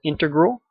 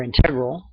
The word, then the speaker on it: integral: other ones are called integral or integral depending on how you